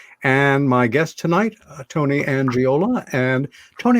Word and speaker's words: Angiola: And my guest tonight, Tony Angiola. And Tony, am I pronouncing your last name correct? You are, sir.